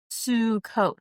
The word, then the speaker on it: Sukkot: It's pronounced sue coat, like s o o o o o o